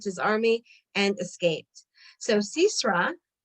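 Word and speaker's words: Sisera: army and escaped so cesaro cesar or cicero i guess in english i'm pronouncing it the hebrew way the canaanite army commander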